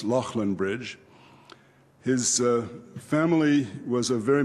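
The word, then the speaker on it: Leighlinbridge: in western ireland that looks to american ears like Leyland bridge but is actually pronounced Lachlan bridge his family was a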